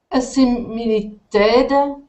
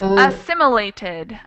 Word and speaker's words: assimilated: three syllables three syllables so it's assimilated assimilated assimilated uh the stress is a second the yes it is the second syllable that this dress David